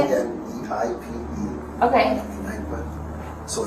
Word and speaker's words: Kneipe: K-N-E-I-P-E.